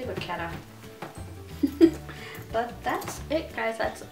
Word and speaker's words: vachetta: Vachetta, vaquetta. How do you say it? I say vaquetta.